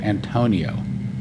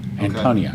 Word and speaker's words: Antonia: He says that's actually an outside wall of the Fort Antonio. Oh, okay. Antonia, you can say it right.